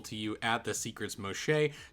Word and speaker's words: Moxché: Took me a while to learn how to say Moshe. It's kind of a weird word. It's got some Mayan in there. So, uh I I asked and that's how you say it.